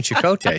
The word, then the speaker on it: Chakotay: Oh, Chakotay. Have you seen an episode? Huh? Have you seen an episode of Voyager? Dude, and not in like 13 years, Okay. but yeah. Okay, so it is definitely Chakotay, so I just want to help you out